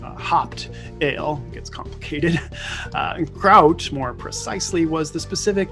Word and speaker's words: gruit: pronounce it that way a more authentic pronunciation as much as this midwesterner can do would be something closer to kraut so like kraut and